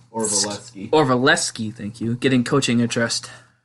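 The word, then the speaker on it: Orlovsky: Dan Orvalewski. Orvalewski, thank you.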